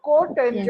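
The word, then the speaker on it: cot: Secant जिसको हम सेक pronounce करेंगे तो सेक वो कॉसे का है। वो कॉस का रेसिप्रोकल है, और कोटेंजेंट Yes.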